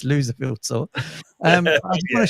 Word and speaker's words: Loserville: He pronounces it the Lucille tour, but it's not right. It's Loserville tour.